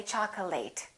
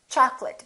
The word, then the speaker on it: chocolate: a very common mistake chocolate a lot of my students say chocolate it's chocolate because it's a noun accurate affectionate intimate all